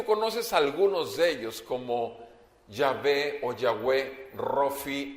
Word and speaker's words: Yahvé: Y decíamos que la pronunciación más clara o más correcta sería Yahvé o Yahweh. Sin embargo, en realidad el nombre es impronunciable porque es YHWH. Son 4 letras y son impronunciables. Pero el nombre más correcto en español sería Yahvé o Yahweh, no Jehová, por si quieres saber algún detalle.